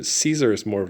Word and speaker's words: Caesar: Latin but a different form of Latin pronunciation Caesar is more of like SP but the actual pronunciation and the sound of it in old the way they said it it would have been Kaiser that's why the uh Germans referred to their